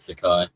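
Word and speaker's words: Takei: George Sakai. I love that guy. No, it's a it's rhymes with gay.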